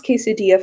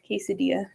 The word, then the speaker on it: quesadilla: I don't do that with most things, but my dad, after all these years, he can pronounce quesadilla fine. He knows that 2 L's in Spanish is a Y, but he, for some